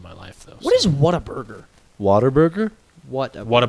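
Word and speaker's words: Whataburger: life though what is what a burger water burger what what a burger it's a restaurant it's pronounced water never had it it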